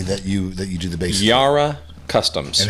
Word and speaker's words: Yara: Yara. Kind of like Yahweh, which is unmentionable. But it's spelled like Sarah Hebrews. with a Y.